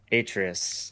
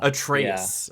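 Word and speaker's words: Atreus: Yeah, I was going to say I'm sure a lot of the thoughts and opinions are of uh Atrius. So yeah, Atraus. That's that's how it's pronounced.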